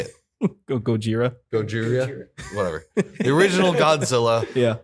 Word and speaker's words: Gojira: sorry what guerrilla how do you say it Gojira Gojira the original Godzilla yeah holds up to